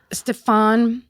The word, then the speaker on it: Stéphane: I'm going to I'm going to request Stfan. Stfan. I think that's truly the pronunciation instead of me pretending I have an accent that's like French Swedish.